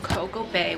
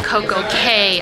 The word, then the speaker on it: Coco Cay: We're in Coco Bay, which is, I believe, an island owned by Royal Caribbean. Okay, oops, I said it wrong. It is not Coco Bay, it's Coco Bay. Cay Island.